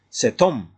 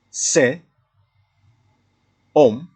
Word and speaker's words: Cet homme: Cet homme est très laid. Cet homme est très laid. There is connection between T and O. Cet homme, because H is silent in French.